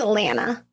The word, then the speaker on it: Alana: I think it's Alana. Okay. Because it's spelled like Hannah, but Okay. with an A-L.